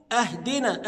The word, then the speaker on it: اهدنا: ما ينفعش اقول ا بعض الناس ينطقها همزه مفتوحه لان انا كده حولت المعنى فاقول اهدنا اهدنا بمعنى اعطنا من الهديه يعني اعطنا كده انا حولت المعنى وانما قيل اهدنا الى الهدايه الى الطريق المستقيم اهدنا الصراط شفت الصاد